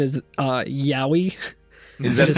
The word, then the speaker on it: Yowie: found it interesting that its name is uh yowie that is spelled y o w i e and not